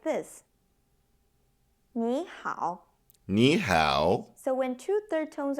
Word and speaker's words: 你好: And when they are together, they are pronounced like this. 你好. Ni hao.